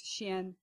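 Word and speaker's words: xian: chinese is that um x is pronounced sh so um x i a n is xin um this the um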